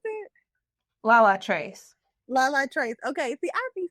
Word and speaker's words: Latrice: How did you pronounce it? Latrice. Latrice.